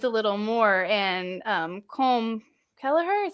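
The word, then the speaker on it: Colm Kelleher: looking into nids a little more and um com kelleher is how you pronounce his name you guys know him he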